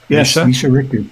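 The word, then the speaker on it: Mischa Richter: Am I pronouncing that right? Misha Richtor Misha Richtor.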